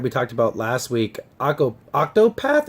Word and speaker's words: Octopath: that we talked about last week, Octopath, I believe is how you say it.